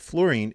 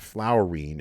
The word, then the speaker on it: fluorine: about fluorine is that fluorine it's spelled f-l-u-o-r-i-n-e not f-l-o-u-r and so it's not flowering it's fluorine and fluorine we're going